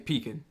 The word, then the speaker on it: pecan: I'm saying pecan. Let me put some pecans on it, man. Australia, most people pronounce this as pecan.